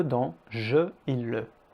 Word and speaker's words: je: la lettre E dans je et le. La lettre E est généralement prononcée E. Par exemple, me, te, le, je. Ce son existe en fait en anglais, par exemple dans verb ou encore bird.